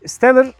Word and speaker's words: Stellar: Ferrari'nin Stellar 85 modeli. Şimdi Steller diye de söyleyebiliriz. Daha İngilizce telaffuzuyla söylemek gerekirse.